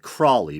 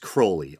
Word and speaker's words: Crowley: A lot of people pronounce it Crawley, but I think it's properly pronounced Crowley.